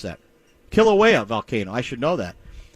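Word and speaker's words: Kīlauea: How do you pronounce that? Kilauea volcano.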